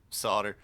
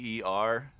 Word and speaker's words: solder: Well, it's actually spelled Solder. Um, though amusingly, in like say Great Britain and a lot of the rest of the world, they actually pronounce it more as it's spelled, as like solder or solder.